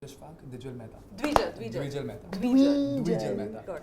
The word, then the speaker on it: Dwijal Mehta: Today I have Queens of Comedy, Urooj Ashfaq and Dwijal Mehta. Did I pronounce it right?